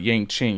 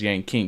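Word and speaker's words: Yanqing: It'll be good for like Yang King and stuff like that. I'm not mispronouncing his name, by the way. It's not Yang Ching. He's Yang King because he's a king.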